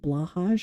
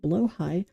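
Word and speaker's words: Blåhaj: fact it's not called blahaj it's called blo high because it's Swedish it's Swedish and I have a Swedish friend and she was like listen it's pronounced blo high and I was like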